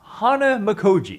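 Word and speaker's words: Hanamikoji: to say it actually Hana makji it is Hana makoi holy snap this short two-player game shocked me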